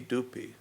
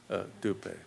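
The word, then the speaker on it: dhupe: pronounce the Tibetan properly, people end up saying poopy doopy. And a friend of mine in retreat said to me, I'm not going to correct all of these Tibetan pronunciations. I'm going to stay Banza and not Vajra. But one thing I am never going to say is poopy doopy. I'm going to say pushpe, dupe.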